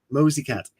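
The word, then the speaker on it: Mocikat: If you want a good cyberpunk, read Anna Mokakat. I can't pronounce her surname. Sorry, Anna. How do you pronounce her surname? Mosey Cat. Is it Mosey Cat? It is.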